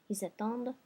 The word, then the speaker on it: attendent: And then the last one, ils attendent. And I'm pronouncing my D because of my fake O muet here in the third person plural ending.